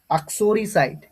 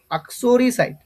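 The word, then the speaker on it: uxoricide: আসো ইউ এক্স ও আসো আক রি আর আই রি আসরি সি আইডি সাইট আসরিসাইট প্রনান্সিয়েশনটা বুঝতে পারলে কি হবে বলতো আসরিসাইট আসরিসাইট এটার উচ্চারণটা হবে আসরিসা আসরি সাইট আচ্ছা এ পার্টনার ইন ক্রাইম।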